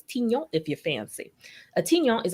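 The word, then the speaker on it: tignon: as the tiny laws some pronounce it like tion but it's tinyo if you fancy atinyon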